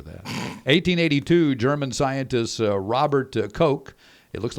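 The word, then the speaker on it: Koch: to Utah after that 1882 German scientist Robert kooch it looks like cootch but it's k c k ko CH that's how they pronounce it uh he announced in Berlin that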